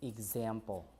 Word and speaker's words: example: Like when you pronounce them, example, like this, right? Example. So GZ.